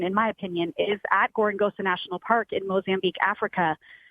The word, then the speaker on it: Gorongosa: one thing I'm just glad that you could pronounce Gorongosa because I was at time Corgan Zola it is not just Gorongosa National Park but they have an incredible story